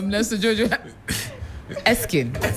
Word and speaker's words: Nesta Jojo Erskine: I'm also one part of me wants to pronounce certain letters that I'm not supposed to. Nesta Jojo Erskine.